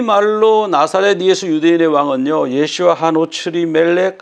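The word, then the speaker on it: ישוע: 히브리 말로 나사렛 예수 유대인의 왕은요, 예슈아 하노츠리 멜렉 하 예후딤. 예슈아, 예수님의 히브리 발음이죠.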